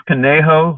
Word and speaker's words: Conejo: You're at is it pronounced your veterinary, it's Cono? It's Conejo Valley Vet Hospital.